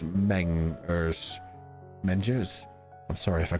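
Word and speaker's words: Mengers: I pronounced that right unless it's it's literally spelled out as m-e-n-g-e-r-s so I'm not sure if you were telling me to pronounce it like in French or if it's mangers ninjas I'm sorry if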